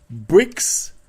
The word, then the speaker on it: Brixx: The other place you can go to is called Bricks Wood-Fired Pizza. Now, it's a play on words. I know I said the word bricks, but it's spelled BRIXX.